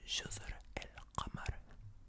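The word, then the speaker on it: جزر القمر: Jazr el-Qamar.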